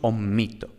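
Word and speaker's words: omitto: Mientras que en omito tenemos que la penúltima sílaba es breve por naturaleza, porque tiene esta sílaba breve, esta I breve, pero es larga por posición, es decir, como va seguida de una consonante doble, entonces por posición es larga, ¿no? Entonces decimos omito.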